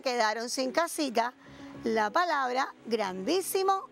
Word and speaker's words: grandísimo: Ah, bueno, seguro que se quedaron sin casita la palabra grandísimo y la palabra árboles. Claro, ¿y por qué se quedaron sin casitas? Bueno, porque estas palabras tienen la fuerza de pronunciación en la antepenúltima sílaba y son palabras esdrújulas.